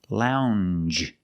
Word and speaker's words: lounge: have the Jew sound the regular n plus the ju sound Lounge lounge and another one when